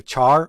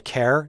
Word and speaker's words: char: Another important data type that I want to discuss is a a char or a care depending on how you pronounce it.